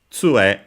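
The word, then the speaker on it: 杖: So this uh tu uh we've seen it uh in the dialogue we skipped this time at the start of the castle. Uh so it's actually accented on the first syllable.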